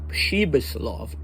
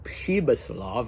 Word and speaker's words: Pribislav: And Thomas Mann makes a point of saying that it should be pronounced Pribislav, but I don't think that's true. Maybe, I speak Russian. It's not really a Russian name, but still I doubt it's pronounced Pribislav.